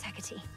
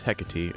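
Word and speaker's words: Hecate: way of the melon thank you head mistress hecky for all your guidance and the compliment okay and it's hecy okay we're going to be learning how to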